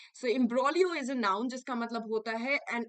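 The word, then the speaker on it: imbroglio: extremely um silent okay we do not pronounce the G so imbrolio is a noun just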